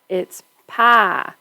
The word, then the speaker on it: pie: It's a 2-syllable word where you thought it was a 1-syllable word. It's pie. You have to kind of sing it. The I kind of goes, ah. It's pie and hi and bye and why.